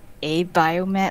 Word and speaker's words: Abiomed: local German company, so the Germans pronounce it as Abiomed. Oh. Maybe the Americans call it Abiomed, I don't know.